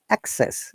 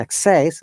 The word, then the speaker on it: access: part of the syllable for example is the access is noun and access is a verb for the verb we stress in the second syllable similarly while it's monosyllable